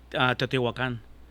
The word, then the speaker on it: Teotihuacan: You pronounce it? Yeah. Teotihuacan.